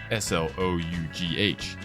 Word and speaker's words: slough: there's no such word as Slough you mean Slough s l o u g h which is pronounced as Slough when a chicken loses its feathers some will